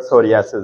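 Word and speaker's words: psoriasis: हाँ जी, ये word सोरियासिस है, ये एक पी साइलेंट है।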